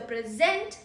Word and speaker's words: present: Present her with the present I gave to you.